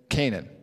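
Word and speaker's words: Cainan: Now, if you notice the word Canaan here, it's spelled C-A-I-N-A-N. That is different than the word Canaan that we're typically used to over in the old world, which is spelled C-A-N-A-A-N. Okay, so this is spelled a little bit differently, but phonetically it's the same.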